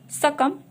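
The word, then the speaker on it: succumb: It means जब भी एम के बाद में बी होता है वहां पर हम बी को साइलेंट रखते हैं।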